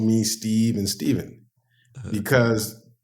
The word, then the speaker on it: Stephen: Steve and Stephen because my name the way it's spelled is spelled like Stefan s-t-e-p-h-e-n and they asked when they made fun of me they would say oh Stefan blah blah blah they call me uh like stefanovic you know that's like kind